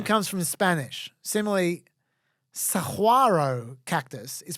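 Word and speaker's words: saguaro: oh great the name comes from Spanish similarly Saro Cactus is pronounced Saro even know it's spell s a u a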